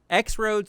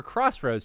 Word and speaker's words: X-Roads: We're doing one more, and it is X-Roads Strive or Crossroads Strive, depending on how you want to pronounce that.